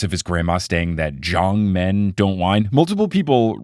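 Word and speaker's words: Zhang: his grandma staying that Jong men don't whine multiple people wrote in to let me know that it's not Jiang it's Jong almost like a j and then a long a do you have experience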